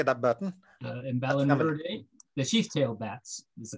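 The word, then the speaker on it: Emballonuridae: Emballurinidae, the sheath-tailed bats is the common name. Can you say that word again? Emballurinidae.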